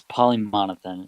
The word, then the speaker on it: Polymonathan: Hey, Polymonathan. I want to it's say like Polymonathan. it's polymonothan. It rhymes with my first name, which is Jonathan.